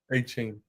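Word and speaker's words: Achane: win this game Devon I'm gonna get his name wrong Devon archan is that how you say his name a chain H chain yeah that dude is a [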